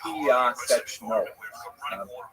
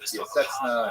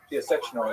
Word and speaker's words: Piaseczno: 14 kilometers outside Warsaw, which is pronounced in Polish, Piaseczno. Since there's a couple of sounds there that are hard to reproduce in both English and Hebrew, it's sometimes rendered Piaseczna and Piaseczno, things like that, but Piaseczno is the correct pronunciation.